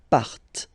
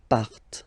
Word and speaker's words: partent: Remember, classic ending, ent, but then you don't pronounce them, partent. Partent.